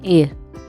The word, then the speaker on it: Eyre: आज हम लोग देखने वाले हैं जेन एयर। बहुत लोग इसको आयर बोलते हैं, बहुत लोग इसको एयर बोलते हैं, बहुत जगह प्रोनाउंसिएशन इसका ए है, आर साइलेंट है, तो अपने हिसाब से एडजस्ट कर लो।